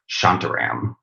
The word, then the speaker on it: Shantaram: Shantaram.